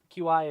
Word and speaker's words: Qi: have is in Bay apparently qi is pronounced Qi Qi compatible in Bay Wireless